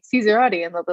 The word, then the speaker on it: Cesarotti: how do you pronounce so i say cesaroti which is a horrible american pronunciation of the actual italian name but when i try